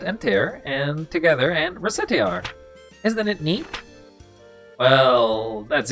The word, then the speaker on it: Recettear: Recettear. Oh, racketeering. Okay, so if you spell the C as a K, it's a racket.